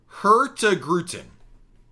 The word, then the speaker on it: Hurtigruten: Hurtigruten. I like my pronunciation better, but you guys are absolutely right.